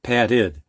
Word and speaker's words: padded: the short U sound, So the dictionary actually is saying that we should be pronouncing this patud. I'm overemphasizing it. Patud. I don't say it that way. I say it more like id, padded, padded. I said in the beginning